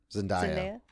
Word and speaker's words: Zendaya: Zendaya. Zendaya? Zendaya. I always want to say Zenade, but I'm like, that's not right.